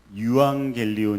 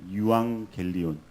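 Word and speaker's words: εὐαγγέλιον: 들어을 것니다 복음이라는 말은 헬라어로 유앙겔리온 이라라고 이렇게 얘기를 합니다 유앙겔리온 헬라어 발음으로는 이렇게 이야기를 하죠 근데 혹시 여러분 에반겔리온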